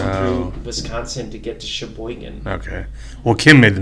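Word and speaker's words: Cheboygan: It's pronounced Sheboygan, but it's a CH.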